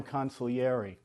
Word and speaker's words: consigliere: I love that you want a a wartime consul yerry you bet I go for the Italians okay